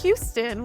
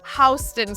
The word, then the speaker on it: Houston: We don't pronounce this Houston, which is, yes, I realize people from Texas, this is frustrating. We call it Houston Street. If you say Houston Street, we will make fun of you.